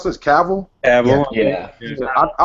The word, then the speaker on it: Cavill: Was it how you pronounce this? Cavill. Cavill.